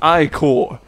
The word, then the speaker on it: ichor: That's pronounced ichor.